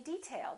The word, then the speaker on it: detail: If it's a noun, we say detail. That's an interesting detail. First syllable stress.